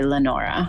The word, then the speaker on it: Lenora: It looks like it says Leonora, but she went by Lenora.